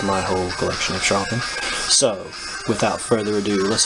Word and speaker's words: Charlton: Some people call it Carlton, but I prefer Charlton.